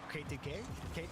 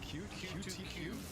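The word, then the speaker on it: Q2Q: K2K? K2K. Sorry. Q to Q. Q to Q. Q to Q. It's not K. Q. That's a Q. What? How does that look like a K?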